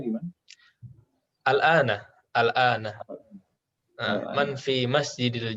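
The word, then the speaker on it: الآن: Yang setelah jamiati itu bacanya gimana? Al-ana, al-ana. Al-ana. Man fi masjidil jami'atil ana.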